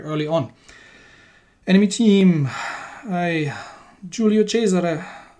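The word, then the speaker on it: Giulio Cesare: on enemy team i julio chaser uh sorry i mispronounced that a couple of videos ago and call it julio chester obviously it's an italian ship so it's julio chaser goodness gracious um what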